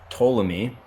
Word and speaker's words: Ptolemy: a good year we've got the birth of Ptolemy the everyone's favorite Greek mythology jack of all